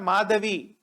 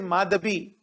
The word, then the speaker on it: Madhabi: right please remember the name it is not madavi it is madhabi so madhabi i think she is from west